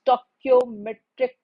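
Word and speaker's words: stoichiometric: Many of the students are unable to pronounce this word. Even I have observed this thing. It is stoometric calculation. I'm I'm just pronouncing it again.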